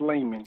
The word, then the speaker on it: Lamon: Lamon, welcome to the show, my man. Hey, man, thank you. And listen, I better tell you before somebody else tells you, you're going to be mad. It's pronounced Layman.